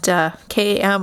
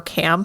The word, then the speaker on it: KAM: kam lightsaber hilt and km or cam however you want to pronounce that it's short for kiarimundi